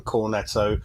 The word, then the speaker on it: Cornet: Only one Cornetto, but you do have to pronounce it as Cornet. It's a silent T, but we'll just say one Cornetto.